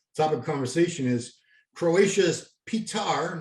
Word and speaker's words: Petar: And as it so happens, our next topic of conversation is Croatia's Petar, not Peter, Petar with an A, Klancier.